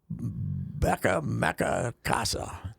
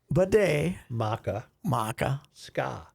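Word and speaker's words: Bde Maka Ska: Becca Mecca Casa. No. Bidet. Bidet. Maca. Ska. Bidet. So bidet. I should think of a bidet.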